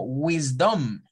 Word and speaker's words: wisdom: y otra débil entonces para decir esta palabra lo correcto es en la primera sílaba subir mi tono de voz y en la segunda bajarlo de hecho en todas